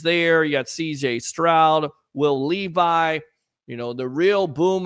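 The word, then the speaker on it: Will Levis: I checked it out it is Will Levi I had to check because I was saying the name wrong and I'm not going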